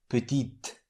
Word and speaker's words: petite: What makes the final consonant pronounced is the vowel E added at the end. So the masculine form is petit with silent T at the end, and the feminine form is petite with pronounced T.